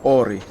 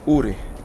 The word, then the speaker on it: Uri: ex say AI but it should pronounce URI I believe it's a um israelian name we call it here URI I have a friend called URI I don't call him Ori I call him URI he lives in